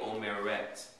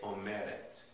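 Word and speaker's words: אומרת: a verb like Omer instead of putting the accent on the third syllable you're gonna put it on the second to the last syllable so it's not going to be omeret it's omeret oh Merit the set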